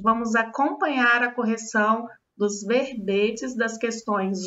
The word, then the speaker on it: verbete: Lá na página 31 da apostila de vocês, nós temos o significado expresso no dicionário impresso do que seja o verbete, pronúncia fechada e.